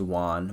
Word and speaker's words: Won: My name is Won, 1 syllable.